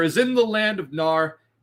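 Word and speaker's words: Mnar: in the land of gnar again pronunciations vary this is spelled m-n-a-r i'm gonna pronounce it nar okay a vast still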